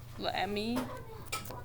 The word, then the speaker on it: l'ami: Lammy. L'ami, très bien.